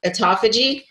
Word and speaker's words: Autophagy: And so to understand, I know I'm going to say it wrong. Autophagy. Did I say it right? Yay, I said it right.